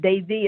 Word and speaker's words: Devi: And Devi is spelled D-E-V-I, and it's pronounced Devi.